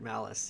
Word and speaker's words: Malice: that's right yeah yeah tom was asking if my name is pronounced like the word malice yeah so get sheckles [